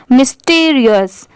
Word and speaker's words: mysterious: तो यहाँ पर अगर हम सेपरेट करेंगे MY को तो माय पढ़ते हैं, पर यहाँ पर इसकी प्रोनाउंसिएशन क्या है? मी, ठीक है। STERI, स्टर, और OUS, अस, मिस्टीरियस, मिस्टीरियस।